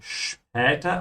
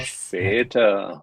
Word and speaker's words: später: Remember, whenever you have an "sb" you pronounce it like "sch", "später" and not "schweter".